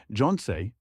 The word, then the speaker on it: Jeonse: Jeonse, pronounced Jeonse, involves a large upfront deposit, 0 monthly rent, and full return at the end.